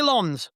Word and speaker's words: Lens: How do you say that name out loud? And he said, say Lens.